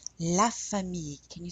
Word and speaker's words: famille: La famille. La famille. Can you say that? La famille. So the I-L-L-E is often pronounced like a Y.